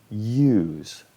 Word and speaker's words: use: pronuncia sino se pronuncia use estoy pronunciando ahora el nombre de la vocal use esta palabra significa